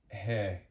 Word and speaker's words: ge: U So then English letter G is he.